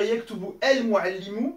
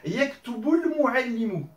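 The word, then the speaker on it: يكتب المعلم: Au lieu de dire yaktubu el muallimu, ça fait un peu lourd, je vais dire la chose suivante. Yaktubul muallimu.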